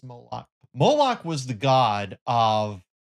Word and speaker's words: Moloch: There was an ancient god, false god, mentioned in the Old Testament multiple times called Moloch. Some people call him Molech or um or Molek, but the general pronunciation is Moloch.